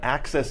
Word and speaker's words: AXS: It's on Access TV, which is spelled AXS.